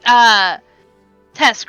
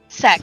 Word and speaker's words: Sek: It's pronounced Tesk, right? Sec. Sek.